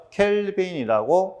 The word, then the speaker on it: 켈빈: 자 요거의 단위는 이제 K로 쓰고요. 켈빈이라고 읽으시면 됩니다. 켈빈.